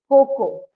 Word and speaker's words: cocoa: this so us we pronounce it as CA okay it is actually Coco Coco yeah so we have to say it as C okay okay okay so